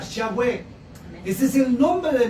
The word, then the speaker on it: Yahweh: sabe o desconoce que el nombre de Dios es uno solo y es YHWH, que los hombres le pusieron para poderlo pronunciar Yahweh.